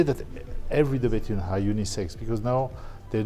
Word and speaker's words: De Bethune: The correct pronunciation is de Bethune.